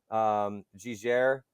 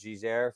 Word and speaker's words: Giger: Geiger is how I pronounce it, but it's pronounced as Giger for them.